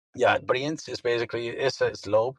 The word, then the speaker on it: Brienz: Brinzals, am I getting the pronunciation there correct? Yeah, Brienz is basically is a slope that is located